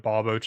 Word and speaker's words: Barboach: To be fair, though, like, if you're gonna pronounce a Pokemon wrong, I feel like Barboach is a good Pokemon to pronounce wrong, because how often are you really, like, recalling that that Pokemon exists?